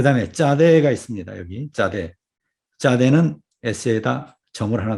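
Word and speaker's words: צדי: 여기 짜대. 짜대는 S에다 점을 하나 더 찍어줍니다. 짜대 이렇죠? S에다 점을 찍어줍니다. 이것이 짜대의 음가고 우리 발음으로는 쌍지읒에 해당된다.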